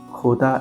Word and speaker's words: jota: In Spanish, jota is pronounced from the throat, a rough h sound. Think of the German composer Bach or Arabic word sheikh.